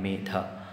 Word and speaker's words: Medha: Even just use the Medha, pronounce the Dha hard in Medha, that itself will be beautiful.